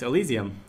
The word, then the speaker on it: Elysium: I just don't know how to pronounce it. Elysium? That's correct. Elysium.